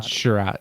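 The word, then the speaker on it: Chiarot: The one that I don't think anybody realizes is they're really going to feel the Chariot. Or how do you say his name? Chariot. Sherratt, yeah, Sherratt.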